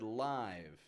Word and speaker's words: live: Now careful with this one because it's spelled the same as the word live, but it's pronounced live.